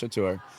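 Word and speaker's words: Catur: So for instance with with uh Mickey and and uh Chatur although it's spelled C A T U R it is pronounced Chatur um we do different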